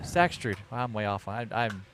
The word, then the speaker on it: Staksrud: Staksrud. Staksrud.